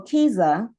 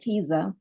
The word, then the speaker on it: KIZA: so literary in what we do and so Kiza um that's how you pronounce that Kiza Kea is actually the k word for story